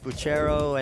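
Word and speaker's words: Bucchero: This daughter of Buchero and, uh, is it Buchero? I believe it's Bucro. I've heard multiple pronunciations.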